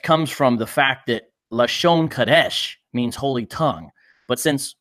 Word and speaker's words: Lashon Kodesh: Their dialect comes from the fact that Lashon Kodesh means holy tongue. But since one Westers, this is the certain type of Hebrews who uses this, they pronounce it Lashawan Kodash.